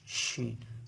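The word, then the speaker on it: شين: উচ্চারণে অনেক সহজ শি শিন জিহ্বার মাঝখান উপরের তালুর সঙ্গে এখান থেকে শিন এভাবে উচ্চারিত হয় এই অক্ষরটা যেহেতু অনেক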